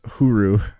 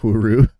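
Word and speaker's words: ホール: Like a slight pronunciation difference. It's cuz it's huru. That's supposed to be how to say hall. Yeah, huru.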